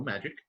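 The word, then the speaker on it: Magik: is known as magic it is spelled funny but it's still magic yeah it's go with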